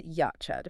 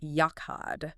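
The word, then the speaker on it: יחד: Okay, so the word is yachad. Right. Or sometimes you'll hear it pronounced with that guttural back-of-the-throat catch like yakhad.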